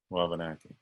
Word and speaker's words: Wabanaki: So could you clarify pronunciation? Wabanaki? Wabanaki? Wabanaki. Wabanaki. Okay. Wabanaki.